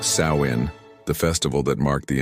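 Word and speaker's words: Samhain: This was Samhine, pronounced Sain, the festival that marked the end of the harvest and the beginning of winter.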